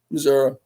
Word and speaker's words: Missouri: Missouri.